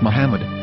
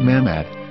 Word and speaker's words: Muhammad: yehuda's Hebrew English dictionary it is correctly pronounced as Muhammad not mammad so how we're going